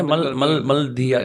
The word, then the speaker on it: Maldahiyar: सही प्रोनाउंस करा है? मलदहियार कैसे बोल?